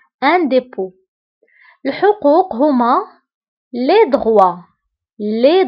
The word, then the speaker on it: dépôt: هنا أيضا dépôt كنكتبوها بالتي في آخر الكلمة ولكن لا تنطق. Un dépôt.